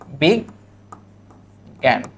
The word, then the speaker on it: বিজ্ঞান: আমাদের মনে রাখতে হবে এই শব্দটার উচ্চারণ মনে রাখতে হবে গ বা শুধু গজ ফুলা চন্দ্রবিন্দু আকার এটা আমাদের মনে রাখতে হবে এইযে এই শব্দটা কিভাবে হবে এইযে বিগ জ্ঞান বিগ জ্ঞান শুধু জ্ঞানও কিন্তু পরীক্ষায়